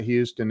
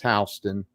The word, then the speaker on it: Houston: the sign he's like it's not houston it's houston uh oh well you